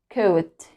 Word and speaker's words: coat: O and A and when o and a come together we don't pronounce the second vowel it's silent but we make the first one long right this is long